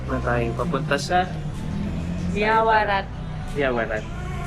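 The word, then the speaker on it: Yaowarat: Yawarat. That's the correct pronunciation. Yawarat.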